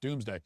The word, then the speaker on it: Domesday: actually spelled Domus Dei, even though it's pronounced pronounced Domesday.